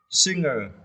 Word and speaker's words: singer: Yeah, before I often pronounce this word singer, but it is wrong. So please pronounce like this. Singer. You need to stress the first syllable, right?